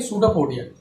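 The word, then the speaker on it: pseudopodia: तो ये जो होता है इसको हम लोग कहते हैं सूडोपोडिया। भाई स्पेलिंग मत देखना, वैसे स्पेलिंग अगर आप तो सही है ना।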